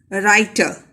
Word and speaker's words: writer: The next word is writer. In this word, W is silent.